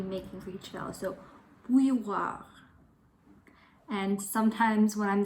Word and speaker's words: bouilloire: And I think this word is especially hard to pronounce because it's got that special oo sound, some diphthongs in there like oui, oui, and the y sound as well as an R.